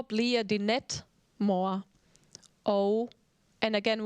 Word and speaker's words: og: Og, and again when it ends with G, also just drop the G.